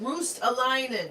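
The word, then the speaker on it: Ruotsalainen: Nick says it's pronounced Roostalainen. Thank you. Roostalainen.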